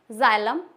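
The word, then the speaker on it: xylem: है ज की साउंड देता है for example जाइलम second xylophone xenophobia कुछ-कुछ एक्सेप्शन होते हैं जैसे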